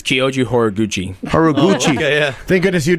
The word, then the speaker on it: Kyoji Horiguchi: 25th who are you fighting how do you pronounce this guy's name it's kyoji horiguchi hor gu thank goodness you did that instead